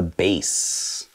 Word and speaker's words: bass: notes the bass yes it's the bass not bass it's spelled b-a-s-s but it's not a fish pronounced bass how about these nice